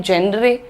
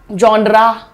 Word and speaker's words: genre: यॉनर तो बिल्कुल भी नहीं है, जॉनर भी नहीं है, जेनरे भी नहीं है। प्रोनाउंसिएशन देखिए आप यहाँ पर, the pronunciation is जॉनर, जॉनर, र पे रुक रहे, जॉनरा नहीं है ये, this is जॉनर, जॉनर। Simple है बिल्कुल, ठीक है?